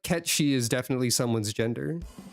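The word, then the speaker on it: Cait Sith: occurred to me that it she is pronounced very similarly to Ketchi, like the correct way to say what Final Fantasy calls Kate Sith.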